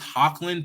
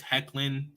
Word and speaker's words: Hecklin: name tyler hecklin yeah i always pronounce it as hawklin people tell me it's hecklin i'm like man y'all